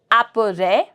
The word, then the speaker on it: après: My S is going to be silent. Apere. après, après.